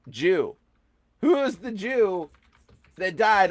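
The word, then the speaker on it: 十: It's Jew. It's a Christian cross and it's pronounced Jew.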